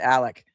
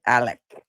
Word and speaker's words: Alex: His name is spelled Alex A L E X, but he pronounces it Alec.